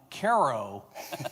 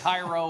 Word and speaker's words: Cairo: Uh thank you for correctly pronouncing my hometown Ko, Illinois correctly. So many people get it Cairo or Cairo or whatever.